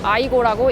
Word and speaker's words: AYGO: AYGO 해서 아이고라고 읽는 토요타의 소형차예요.